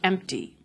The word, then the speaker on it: empty: This actually happened with the word empty, which is now spelled with a P.